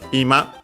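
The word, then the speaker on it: 今: Because, yeah, here she's saying Ima first. We have most certainly the one accent on the first mora, because the one accent on ma means living room, so it doesn't make sense.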